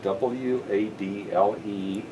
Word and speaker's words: Wadle: So I want to say before we finish, because my name is often misunderstood about the spelling, my last name is spelled W-A-D-L-E, and it is pronounced Wadle.